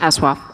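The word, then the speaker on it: ASOIAF: And the question posed was, what would Aswaf, which is how you pronounce the... Aswaf is correct. Aswaf.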